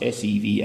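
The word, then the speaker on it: Sevan: is the capital and I stayed by Lake Sian it's pronounced Seeva and by as it happens a monastery on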